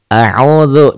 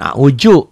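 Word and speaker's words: أعوذ بالله: A'udzu, jangan a'uju, jangan a'udu ya. A'udzu antara keras dan rapuh.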